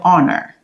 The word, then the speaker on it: honor: Après ça, after that, we have honor. Honor. Honor. Honor, H doesn't pronounce.